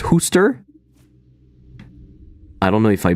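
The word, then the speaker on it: Worcester: gbd and others yeah it's not war Chester it's Hoster it's pronounced Hoster I don't know if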